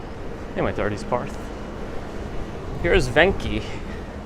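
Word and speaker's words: Venchi: my thirties parth here's venky v-e-n-c-h-i it's pronounced venky little chocolate place i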